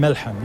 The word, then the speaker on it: Melhem: Let me go to Hisham Melhem, who's in Washington, the reporter for As-Safir, which is the daily newspaper. First of all, am I pronouncing your name both correctly? Hisham Melhem.